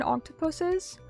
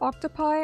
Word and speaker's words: octopuses: screwed, or like certain octopuses. Before anyone says octopi, I'm pretty sure I've looked it up. Octopuses is actually the correct way to say it.